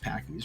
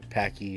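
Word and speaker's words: Paqui: 14-year-old kid died after doing the Packy's one chip challenge, which caused the company, I think it's pronounced Packy's, right? Packy. Yeah, P-A-Q-U-I.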